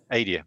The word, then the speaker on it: Adia: How's it pronounced? Adia. Adia. Oh, I'm sorry, I got it wrong on both counts then.